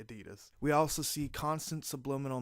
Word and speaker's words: Adidas: We see this with Adidas, I guess you pronounce it, apparently, Adidas.